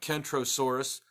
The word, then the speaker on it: Kentrosaurus: So there's no way to mistake the two animals, but you got Kentrosaurus and Centrosaurus, one with a hard K sound and one with a soft C sound, and there was some confusion.